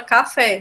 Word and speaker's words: café: Por exemplo, lá no início a gente viu a palavra café, né? Café tem 2 sílabas só, é o K e a fé. E aí café é uma oxítona.